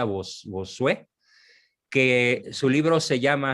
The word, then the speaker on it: Bossuet: Hay un libro formidable de un autor francés, se escribe Bossuet, con doble S y T al final, Bossuet, se pronuncia Bossuet, que su libro se llama así, sobre el corto número de los que se salvan.